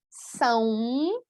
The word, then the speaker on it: são: Como pronúncia, parece que tem aí uma letra U, né? São, ok? Então, a nasalização leva um pouco para a letra U em todos esses casos.